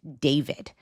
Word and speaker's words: D4VD: a well-known artist named David. And David spelled with the number four instead of an A because he is a Gen Z artist extraordinaire.